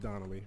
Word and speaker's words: Danelli: It's pronounced Donnelly.